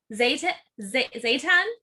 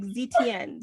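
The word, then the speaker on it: Zetian: No, like Zetienne. Zetienne. Yeah, so if you say it like you're French, maybe it'll work. Huh? Maybe if you say it like we're French, it'll work.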